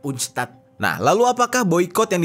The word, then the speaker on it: UNCTAD: Bacanya tuh kayak UNCTAD.